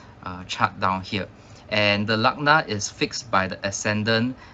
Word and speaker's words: lagna: so the ascendant is also called lagna this is how it is spelled okay l a g and a so lagna uh is used quite